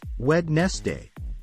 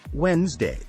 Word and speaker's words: Wednesday: it is ballet next is Wednesday many people pronounce it as wedness day but the correct way to say it is Wednesday moving on to asthma some people say asked